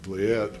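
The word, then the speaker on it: Vliet: by uh a doctor named Elizabeth blet which you should you should write that name down look it up uh it's spelled vlie t she's probably the most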